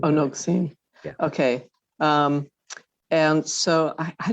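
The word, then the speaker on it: נֹגְשִׂים: And I also often mispronounce this when I lane it because my mouth wants to say nogshim, but it's actually nogsim. It's a sin. Oh, nogsim.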